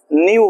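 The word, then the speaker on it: knew: वो क्या होता है न्यू होता है नो का v2 क्या होता है न्यू अच्छा के एन ई डब्लू में के साइलेंट होता है जैसे नो में के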